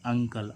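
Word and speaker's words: uncle: क्या आ रहा है दो व्यंजन एन और सी क्या है एन और सी दो कंसोनेंट है तो इसको हम क्या पढ़ेंगे ू का उच्चारण क्या आएगा आ तो इसको हम क्या पढ़ेंगे अंकल अंकल मींस क्या होता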